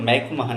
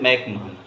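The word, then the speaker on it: McMahon: हालांकि इसका सही प्रोनाउंसिएशन मैकमोहन है, क्योंकि मैकमोहन शब्द हमारे हिंदी में लोग ज़्यादा बोलते हैं, जबकि उसका रियल में प्रोनाउंसिएशन है मैकमोहन।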